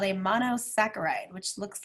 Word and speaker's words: monosaccharide: sacchariah means sugar and in science we don't say the CH sound for some reason in any of our words we say it like a k so that's monosaccharide and examples of single